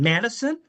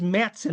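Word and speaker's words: Matteson: Now, we can argue about the pronunciation. Madison. Governor Madison. I worked with a person from Matson, Illinois, and it was Matson as far as she was concerned.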